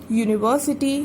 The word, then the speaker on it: university: Okay, same as it is university, U is a vowel but again it is giving us the sound of Y, so we have written A.